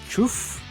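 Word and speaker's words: chough: Chuf? It's actually pronounced chuf.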